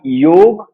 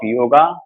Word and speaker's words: yoga: request you all to allow me to use the word yog in place of yoga, and there are more words where in the end of the word we try to pronounce a or a with a stress.